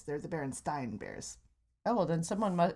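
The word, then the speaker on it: Berenstain: as berenstein it's not they're not the berenstein bears they're the berenstein bears oh well then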